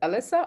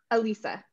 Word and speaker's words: Alisa: Is it Alyssa or Alisa? Alisa. Alisa.